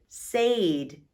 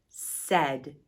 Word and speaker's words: said: talking so s aid sayed that's not how we say it we say that we say it said so listen to what the a and the i say together s they actually make a short e sound isn't that silly well